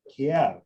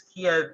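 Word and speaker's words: Kyiv: Kiev is the pronunciation that the Ukrainians use. And so the reason that in the last few years, news outlets and things such as that have started using that pronunciation is because it is respecting the local pronunciation in a country that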